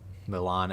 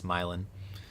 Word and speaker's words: Milan: Did you say Milan accidentally drew? It's Milin.